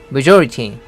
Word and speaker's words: majority: majority, 명사로 다수를 의미합니다. 쪽수가 많은 거죠. 발음은 조를 강하게 해서 majority 이렇게 하면 됩니다.